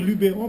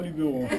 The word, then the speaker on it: Luberon: pas met on dit mes je je le prononce à la provenç ah ben alors nous on va continuer à dire Lubéron parce qu'on dit pas Luberon nous sommes donc un à sur notre interpellation